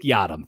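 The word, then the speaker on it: Yiadom: from the saints that they got yam Isaac yadam thank you uh Isaac yadam has been out there and has looked magnificent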